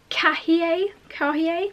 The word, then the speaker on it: Cahier: It is called the Prada Cahier, not sure how to pronounce it. It's like cashier but without the extra S, and it is this beautiful straw bag.